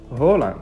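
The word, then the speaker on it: Haaland: ضيفنا لهذا المقطع هو إيرلينغ هالاند. Thank you. وقع اختيارنا اليوم وتحت طلبكم على الموهبة النرويجية إيرلينغ هالاند، أو كما ينطق اسمه بالنرويجية هولاند.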